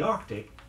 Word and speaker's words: Arctic: around the South Pole be sure to song the sound in both words say after me first